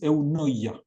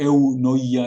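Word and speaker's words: eunoia: Hay una palabra hermosa en el en el idioma griego que ahí la escribí, que es eunoya. Un poco difícil de pronunciar para nosotros, ¿viste? E noia es como Pero eunoya significa actuar con bondad.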